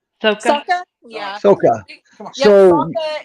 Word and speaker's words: Sokka: How do you pronounce his name? Was Melanie right? Soka? Sokka? Yeah. Soka.